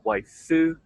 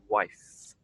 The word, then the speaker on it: wife: Be sure not to add an extra syllable afterwards. We don't want to say wife or waifu, anything like that. Just finish with that air passing through your lips. Wife, wife. So let's not add any extra syllable after the end of the F sound, the end of the word.